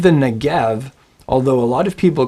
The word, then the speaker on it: Negev: It's erev Shabbat, not erev Shabbat, and it's Negev, not Negev.